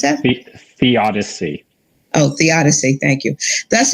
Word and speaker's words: theodicy: When caught in the throes of pain, the sufferer can find little comfort in how do you pronounce that? Theodicy.